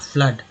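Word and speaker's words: flood: FLWD फ्लड में double O का उच्चारण आ के रूप में हो रहा है, फ्लड।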